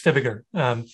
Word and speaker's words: Fibiger: Sure, you got it almost right, it's Fibiger.